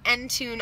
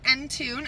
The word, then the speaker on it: Entune: auxiliary input and our Entune audio system which is awesome I find so menu so it's spelt just like that and tune and it is an